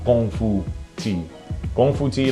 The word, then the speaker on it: Gong Fu: tea brewing is called Gong Fu. Gong Fu, like Kung Fu, you know? Okay. Kung Fu is the Cantonese pronunciation of that word. The Mandarin pronunciation is Gong Fu.